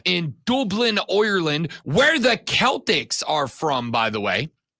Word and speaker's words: Celtic: Dublin, Ireland, where the Celtics are from, by the way, between Georgia Tech and Florida State. I did ask Odie, who says it's pronounced Celtic. It is pronounced Celtic. And he's from Ireland.